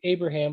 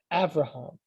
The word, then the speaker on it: Avraham: or v depending so you've heard people say abraham but you've also heard people say avraham and that's because the b is a valid pronunciation of the letter b in fact interestingly